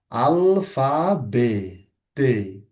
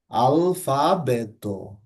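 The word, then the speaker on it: alfabeto: ত আলফাবেত। আলফাবেত। বলছি না আমি কিন্তু। হ্যা খেয়াল করবেন। টি হলে সেটাও ট হতো। এখানে কিন্তু ট বলা হচ্ছে না।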